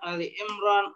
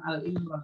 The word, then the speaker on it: Ali Imran: Kita buka sekarang Ali Imran ayat 92. Ayat 92. Surat Ali Imran itu surat keberapa? 3. Ali Imran bacanya jangan Al Imran ya.